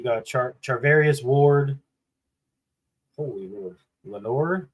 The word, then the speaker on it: Lenoir: Lenore? How do you say that? Demondor Lenoir.